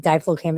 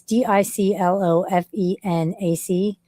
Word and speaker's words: diclofenac: I swear to God, diflocaine, but that's not how you say it. It's DICLOFENAC, diclofenac.